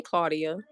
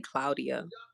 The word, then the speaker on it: Claudia: Y'all know one name that really gets butchered when it's um in Spanish or Hispanic? Claudia. People be like, "Hey, Claudia." And it's really Claudia. Isn't that different though? Claudia. It don't look like Claudia. It's really spelled like Claudia, but it's Claudia. Claudia. It gets me every time.